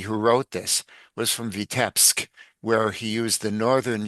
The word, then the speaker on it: Vitebsk: But the other thing I wanted to point out is Ansky, who wrote this, was from Vitebsk, where he used the northern Yiddish pronunciation, the Litvish.